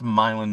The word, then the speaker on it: Milan: It's spelled like uh Milan. But it was Milan, Michigan.